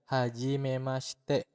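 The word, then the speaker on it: はじめまして: sendiri adalah hajimemaste ya hajimemaste dibacanya hajimemaste seperti itu kurang lebih ya Kemudian yang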